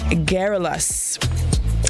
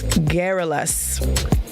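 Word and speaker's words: garrulous: morning grenada the word of the day is guerrillas guerrillas now it's spelled g-a-r-r-u-l-o-u-s guerrillas now giralis can mean chatty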